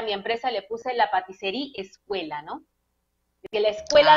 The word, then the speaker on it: Patisserie: ¿Por qué la pastisserie o pastisería? Se pronuncia la patisserie, es Patisería. la traducción de la patisserie, la traducción de pastelería en francés.